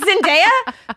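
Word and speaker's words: Zendaya: It's Zenaia.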